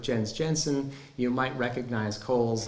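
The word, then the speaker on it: Cowles: Jensen you might recognize Cole's name uh and and I pronounce it Kohl's because that's how he pronounced it but if you've always seen that W and had to say cowls that's okay too um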